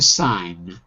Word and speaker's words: sign: v for verb and the pronunciation is different sign it's what we call the long sound i like lion okay but as a noun it becomes the short sound signature you've got you've